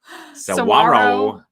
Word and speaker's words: Saguaro: And then the one that I cannot pronounce. Saguaro.